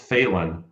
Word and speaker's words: Fehlan: It's it's pronounced failing as in not succeeding.